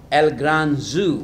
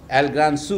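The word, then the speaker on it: El gran zoo: ঘোষ এটা অনুবাদ করেছেন পশ্চিমবঙ্গে, নাম চিড়িয়াখানা, মানে এল গ্রান জু ওর ভাষায়, এল গ্রান সু হবে উচ্চারণ।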